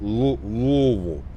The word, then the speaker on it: Louisville: That's how you have to say it. Louisville. Louisville. Has to be said like that or you're doing it wrong.